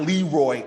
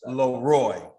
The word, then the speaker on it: LeRoy: my baby's name wrong it's not low it's not leroy it's leroy thanks yes i never